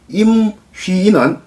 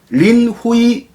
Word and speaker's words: 임휘인: 서지마를 중국 발음으로 표기하면 시즈모가 되고 임휘인은 린후이인이 됩니다. 그런데 이 두 사람은 신중국, 그러니까 사회주의 중국 이전의 사람이기 때문에 1949년 이전의 사람이기 때문에 그냥 한자음으로 발음하는 것이 바람직하다고 생각됩니다. 그래서 지금부터는 서지마, 임휘인 한자음 발음대로 하도록 하겠습니다.